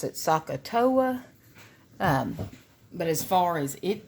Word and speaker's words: SOHCAHTOA: acronym that I like to use it's I pronounce it sohcahtoa but as far as it tells you literally